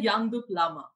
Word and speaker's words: Yangdup Lama: would like to welcome our next guest mr yandu plama hello sir how are you and i hope i've pronounced your name right hello amrita uh first